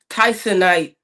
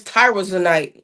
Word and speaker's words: tyrosine: the way correctly, but it's called tysonate or something like that, or no, it's tyrosine.